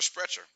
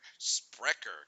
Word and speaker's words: Sprecher: Oh, Sprecher is how it's pronounced. It's a local Wisconsin craft root beer, one of the best out there. Sprecher.